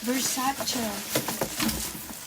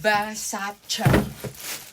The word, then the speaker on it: Versace: Lord Oh no it's versace it is from versace according to Miss donatella versace you should pronounce it as versace not versace versace let me tell you